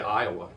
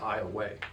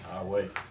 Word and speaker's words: Iowa: don't know where Iowa a lot of people say Iowa I used to way that but it's I away right coach Johns I way that's the right that's the right way to say it um Tommy how you